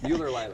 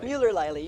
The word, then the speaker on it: Muellerleile: Muellerleile. Muellerleile.